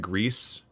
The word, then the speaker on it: Gris: side scrolling like cinematic, like Grease, which is spelled Gris, like that's very slow platformy beautiful game that a lot of people liked.